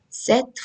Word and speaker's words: cet: adjective c e t which is pronounced as set only the same way as you pronounce this one but what is the